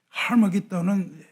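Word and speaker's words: 하르마게돈: 여러분이 인류 최후의 전쟁이라고 알려진 아마게돈은 원 발음이 하머기돈입니다. 하머기돈은 히브리어고 헬라어로 음역을 하면 아마게돈이에요.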